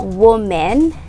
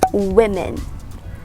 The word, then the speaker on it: women: is still mispronounced some people say it is woman but it's actually pronounced as women women say it yes so women again be